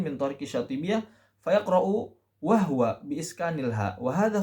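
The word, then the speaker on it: وهو: Wa huwa khata'un. Ya, seharusnya bagaimana? Kalau mengatakan riwayat Hafs, dia pasti bacanya dengan wa huwa, bukan wahwa, karena wahwa bukan riwayat Hafs.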